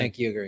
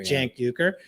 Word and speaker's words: Cenk Uygur: I'm really bad with names, but I believe this is the correct pronunciation. Cenk Uygur. Cenk Uygur.